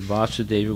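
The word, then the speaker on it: Vāsudeva: Okay, so now you have a definition of the word Vasudeva with a long A. So there's Vasudeva with a short A and Vasudeva with a long A.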